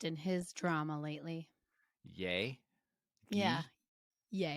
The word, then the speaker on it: Ye: his drama lately yay yeah yeah is it ye or yay well it's yay he changed his name